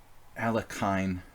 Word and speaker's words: Alekhine: hard as pronouncing it Alekhine is the western pronunciation train bird well went